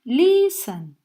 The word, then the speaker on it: listen: Porque listen no tiene acentuada la última sílaba. No decimos listen, como begin, sino que decimos listen.